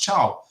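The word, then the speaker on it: Thiaw: I keep saying Thao, but I hear it's pronounced Chow, isn't it?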